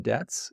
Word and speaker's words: debts: are two different things also the b in debts is silent every time the company